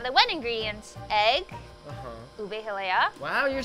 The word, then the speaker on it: ube halaya: Ube hilea.